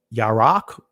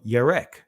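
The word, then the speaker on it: ירק: word pale it says right yarak or yarek in the Israeli pronouncing pronunciation of it it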